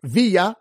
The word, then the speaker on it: Villa: So it's got both of them, the La Jolla rule of pronunciation, T-R-U-J-I-L-L-O, Trujillo. The surname Villa, V-I-L-L-A, as in Pancho, ranked number 137, and Bonilla, as in Bobby, ranked number 140.